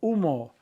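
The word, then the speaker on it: humo: much smoke smog deas UMO H is silent uran too many hurricanes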